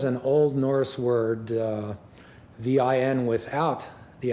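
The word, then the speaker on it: vín: days see it as v i n with an accent on the i v n land meaning land of wine or land of grapevines.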